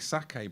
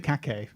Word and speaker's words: sake: We had a We had a big sake barrel, which is but one letter different from cake, but pronounce it. Yeah. Yeah. Yeah. It's not You don't pronounce it khake?